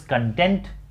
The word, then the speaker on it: content: when the I mean when this word content means happy or satisfied then it is pronounced as content but when it means